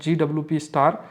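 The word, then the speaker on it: GWP*: For measuring methane emission, जिसका GWP बोलते हैं, प्रोनाउंस्ड एज GWP स्टार।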